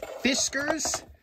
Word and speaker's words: Fiskars: also found these right fiskers am I pronouncing that right fiskers like whiskers with a f anyway this was in